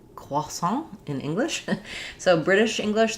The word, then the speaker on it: croissant: Okay, we have a question about how to say croissant in English. So British English, they're going to do croissant closer to the French. American English, sometimes we say croissant, which I'm sure some people are cringing to